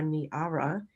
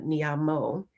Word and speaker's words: Niara: You are Niara and not Nyam Mo, which is what I called you before.